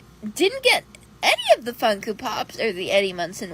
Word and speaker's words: Funko: Oh, I also forgot to tell you that she owns over a 100 Funko Pops that she pronounces Funkoo Pops.